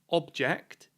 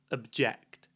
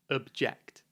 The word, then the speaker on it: object: it's not the noun object it's the verb object the stress is on the second syllable object finally today we're going